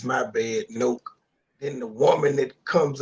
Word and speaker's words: Nowak: The judge proceeds to call him Nowak. Then the judge finally corrects himself, calls him Noak. Then the prosecutor calls him Nowak. Says, my bad, Noak.